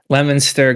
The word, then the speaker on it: Leominster: It's Worcester and Leominster, Leominster, Gloucester, Situate.